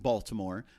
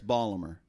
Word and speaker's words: Baltimore: Now we pronounce it Baltimore, but up there it's Balmer. Balmer.